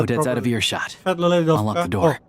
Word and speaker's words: Svietloladovka: can't pronounce that Odette's out of properly. earshot. Svietloladovka.